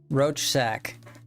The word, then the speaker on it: Rorschach: It's roach sack. It's literally what. A Rorschach? Is it really? Is it really spelled like that?